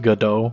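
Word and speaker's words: Godot: Also, go do is pronounced gdau. I don't give a I don't give a I call it good when I'm reading the book.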